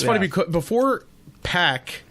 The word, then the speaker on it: PAC: uh in aw they it's it's pack and i'm like oh i didn't know that i was saying it wrong this i always thought it was park when he was in